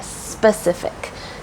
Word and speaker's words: specific: about the Pacific Ocean you want to make sure that s is there to say specific specific if you want to